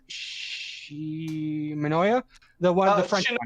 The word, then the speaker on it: Shinomiya: I think the favorite character overall would have been how you pronounce his name? Shimanoya? The French one. Shinomia.